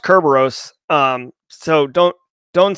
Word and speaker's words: Kerberos: local key distribution center KDC for Kerberos it's pronounced Kerberos um so don't don't say keos or whatever he was saying in a um